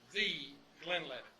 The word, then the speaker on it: Glenlivet: Now, the Glenlivet, it is pronounced the Glenlivet.